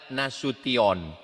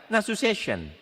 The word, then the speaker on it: Nasution: Cara membacanya nasution. Ada pula pembawa acara yang baca nasu session. Tolong yang bermargana sution kalau nanti ada penerbangan internasional ke Amerika, ke Jerman, pemanggilan nama, pesawat, dengarkan baik-baik.